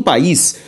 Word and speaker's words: país: sílaba é a tônica quando lemos a palavra país país é uma palavra oxítona oxítona por quê Porque a última sílaba tônica agora a regra de